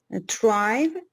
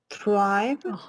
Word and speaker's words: thrive: one is a tribe uh tribe no no no that's not the pronunciation pronounce it correctly thrive very good so you can